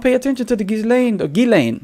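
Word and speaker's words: Ghislaine: Gileain, right? That's what we've heard her brother call her. Gileain, right?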